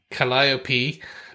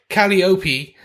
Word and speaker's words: Calliope: Main learning point, pronounced Calliope, not Calliope.